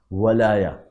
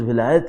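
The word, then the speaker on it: ولاية: میں نے عرض کیا قرآن کریم میں دو جگہ جو خود ولایہ کا لفظ آیا وہ واو پر زبر کے ساتھ آیا، ولایا. چونکہ اردو میں تلفظ ولایت ہے اس لیے میں اس کو ولایت عرض کر رہا ہوں، ورنہ ولایا آیا ہے عربی کے اندر.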